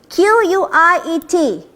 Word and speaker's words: quiet: Q-U-I-E-T, quiet, the yt sound at the back there.